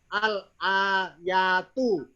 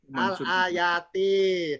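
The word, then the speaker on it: الآياتِ: Tadi sebelah kiri nih, tadi saya bacanya al-ayatu. Tuh, salah. Yang benar, yang berapa? Yang berapa? 2. Salah. Al-ayata. Tuh, tiap patah. Faslul ayati. Karena jamak. Ingat ya, jamak muannats salim, tanda mansubnya kasro.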